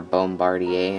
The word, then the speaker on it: Bombardier: If you are not aware and you're probably wondering why I'm saying Mitsubishi, they bought CRJ, or Bombardier, I think is how you pronounce it, but they bought them, so now on Flight Radar 24, all their planes say Mitsubishi CRJ-200.